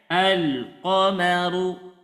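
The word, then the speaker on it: القمر: tanda sukun maka bacanya alqomaru Nah jadi lam nya jelas izhar jangan Al Al nah jangan tapi Al coba dibaca Ibu 1 2 3 alqamar alqamar alqomar nah ini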